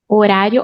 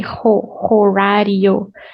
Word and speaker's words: horário: Horário. Oh, and H in Portuguese is mute. So you don't say horário. You say horário. It's like this doesn't exist when you're pronouncing.